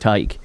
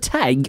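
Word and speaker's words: Tadhg: when he came on the scene first, like, is it Tig or Tej? I don't know. Yeah. Then all of a sudden he starts fucking choke slamming fucking All Blacks. He's like, oh, it's Tig.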